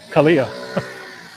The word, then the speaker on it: Kalia: Dale, this road is Kalia, but they're pronouncing they're emphasizing the I instead of like the LA apostrophe I.